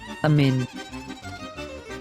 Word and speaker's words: אמן: It is the end form of the letter nun which has the n sound. So we pronounce this as אמן, אמן.